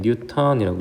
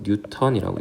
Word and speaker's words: 뉴턴: 읽을 때는 뉴턴이라고 읽습니다. 자, 뉴턴은 중력의 단위만이 되는 게 아니라 힘의 단위예요. 힘. 자, 뉴턴. 힘의 단위는 우리 N 이렇게 쓰고요. 이걸 뉴턴이라고 읽습니다.